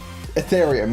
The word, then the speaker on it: Ethereum: 64 million in is it Athenium? How do you say it? It is Athenium, right? Or something like that. It literally comes down to usage, and Doge will soon be there. Ethereum, yeah.